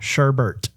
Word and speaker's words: sherbet: so say it out Sherbert okay there's an r in there where at the end and my the way I'm saying it there is there's not well there's not an